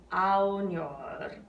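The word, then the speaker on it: ognor: Yeah, so just rao, ow. It's almost like you're saying the word ow, right? Like, ow, that hurts. It's that same, it's actually a very similar vowel sound. Sospira aunor. So you can almost think of just saying ow there.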